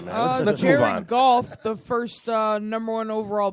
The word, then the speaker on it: Goff: Jared Goff. He was the first pick of the draft. Golf. They said golf. They say it like golf without the L.